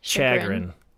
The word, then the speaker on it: chagrin: I mean, it sounds unless French. you say it like an American. Like chagrin.